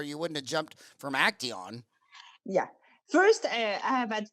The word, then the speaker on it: Acteon: Did I pronounce that Acteon? Right? Acteon.